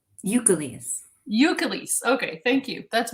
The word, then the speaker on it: Ukeles: sorry how do you say your last name eucalyst eucalyst okay thank you that's one question i